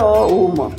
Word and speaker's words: ओम: किसी भी तरह का कुछ नहीं होता है किसी से, तो ओम का उच्चारण करो, ओम, इस तरह से पूरा ओ से शुरू करो, ओम, म को लंबा ले जाना है।